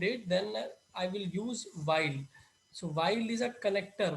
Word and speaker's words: weil: In today's lecture we are going to cover up our conjunction while we call it, we the pronunciation is while means because.